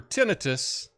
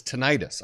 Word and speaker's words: tinnitus: to treat tinnitus we've also heard that is tinnitus I always heard it as tinnitus my whole life but uh Reese you know recent years I've heard it tinnitus so perhaps that's the the right way to say it it's a condition that